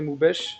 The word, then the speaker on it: Moubèche: Aujourd'hui, petite interview avec un invité très spécial, avec Moubèche. J'espère que je le prononce bien. C'est ça. C'est ça, Moubèche, donc qui est rédacteur en chef et community